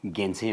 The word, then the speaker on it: Gyaltsen: तर Tibetan भन्दा actually एकदम भन्नु हो भने यो चाहिँ गेन्से भन्छ के. गेन्से.